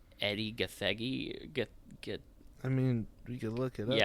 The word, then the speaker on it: Gathegi: Yeah, it's Eddie Gathegi. Yeah, I said it right. Yeah. Yeah. I believe that is how you pronounce it.